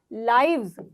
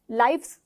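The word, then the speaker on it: lives: लाइफ, जिंदगी, जिंदगियां, लाइव्स, लाइफ्स नहीं बोलोगे। प्रोनाउंसिएशन आपकी ये नहीं होनी चाहिए, लाइफ्स नहीं, लाइव्स, लाइव्स, ठीक है।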